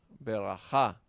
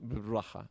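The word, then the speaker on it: בְּרָכָה: Por ejemplo, cuando comienza una palabra ve braha berajah, berajah o beraja. Sí, ahí tenemos esta sheva se vocaliza porque abre la sílaba, abre la palabra. Ver raja, no decimos braja, braja. Braja, ¿verdad? No, veraj.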